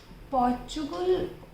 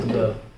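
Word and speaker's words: Portugal: पुर्तगाल। पुर्तगाल। मतलब हम इंडियन उसको ऐसे प्रोनाउंस करते हैं, but पोर्चुगल। otherwise it is not।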